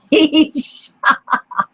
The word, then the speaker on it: quiche: At that point, a diner at the next table leaned over and said, I think you'll find it's pronounced quiche. K-E-E-S-H. Quiche.